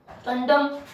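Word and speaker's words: condemn: और आपने सुना होगा कंडम।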